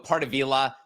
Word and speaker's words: Pardavila: But we go with Pardavila because there's only Pardavila. one L there. If there was two L's, you do the fancy pronunciation that you just did, Diane. But our family name is very basic, one L, so Pardavila.